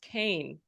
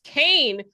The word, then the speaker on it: Kean: of New Jersey, they say ke an is pronounced Kane. Yes. And I know people like what? Like don't No, we don't know that. The rest of the world says King, but it's Kain out here.